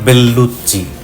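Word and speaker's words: Bellucci: যিনি অভিনয় করেছেন তাকে সবাই চিনেন, মনিকা বেল্লুচ্চি। দুটো এল আছে, দুটো এলই উচ্চারিত হবে। দুটো সি এর জন্য চয় চয়, অনেকটা আমরা কাচ্চি বিরিয়ানিতে যেমন বলি।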